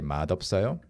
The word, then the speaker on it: 맛없어요: Yeah, you have to say 맛없어요.